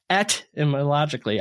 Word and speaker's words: etymologically: I like, for some reason I can say etymology without pronouncing the T, but etymologically, I got to put that hard T in there.